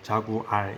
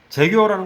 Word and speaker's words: Jaguar: 광고를 찍어 놨더라고요 우리가 이제 jaguar이라고 써 놓고서 발음 기호가 필요하죠 그냥 그대로 소리를 하는데 읽으면 저하고 자구알 이렇게 발음 될 텐데 재규어라는 거예요 그리고 스타는 이건 이제